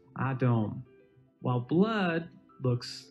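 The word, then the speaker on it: אדום: For example, red in Hebrew looks like this, and it's pronounced Adom, while blood looks like this, and is pronounced Dam.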